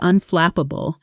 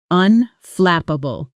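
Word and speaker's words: unflappable: Unflapable. The stress is on the second syllable. Flip. And that flap sound should be crisp and clear. Practice with me. Unflapable.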